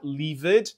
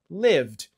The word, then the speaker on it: lived: A gente só adiciona o d, porque ele já termina em e, só que a pronúncia, novamente, a gente não vai falar lived, a gente vai falar lived.